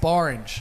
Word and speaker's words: Borange: If you need something that rhymes with orange, you better believe Bang. it's Borange.